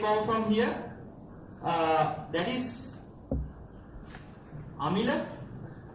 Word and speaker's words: Amila: We call him, we just omit M and I when we pronounce his name.